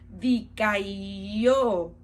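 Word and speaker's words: δικαιόω: Su palabra se pronuncia dikaio, que su definición es rendir, es mostrar o considerar como justo o inocente.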